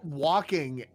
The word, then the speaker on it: Walken: You don't pronounce Okay, it Wagri. say walking in any other context.